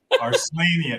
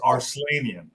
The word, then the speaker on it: Arslanian: Arslanian. It is Armenian. It is Arslanian. Arslanian rhymes with Armenian, and I know it is an Armenian name.